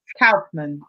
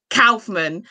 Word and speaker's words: Kaufmann: me, Michael's name is Nigerian, so I can pronounce that. German, I didn't do so well at school. So Dr. Miranda Kaufmann, yes? Kaufmann. Kaufmann.